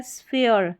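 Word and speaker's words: sphere: यहां पर देखिए ये है स्फीयर। स्फीयर स्फीयर। अब यहां पर फ यह पी एच है ना इसको फ करके पढ़ रहे हैं।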